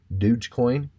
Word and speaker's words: Dogecoin: save that is dogecoin douche douche coin is how it's pronounced I've been really eyeballing